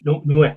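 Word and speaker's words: Nguyen: Could you pronounce that for me that you uh his last name was Nuen?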